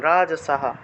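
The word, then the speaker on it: রাজসাঃ: রাজসাহা বিসর্গ থাকায় হ উচ্চারণ, রাজসাহা।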